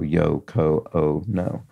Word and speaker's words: Yoko Ono: so a long o because her name uh contains four examples of a long o yo Co o no so there we go